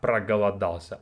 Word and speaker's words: проголодался: So the first syllable is про. Про, га, ла. So прогала. Прогала, and then дался.